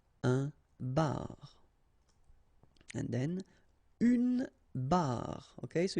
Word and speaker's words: barre: And then une barre. Okay, so you can hear that it's exactly the same way that you pronounce, but then you've got r, and then e.